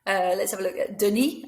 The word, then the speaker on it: Denis: Let's have a look at Denis. I meant Denis, don't pronounce the S.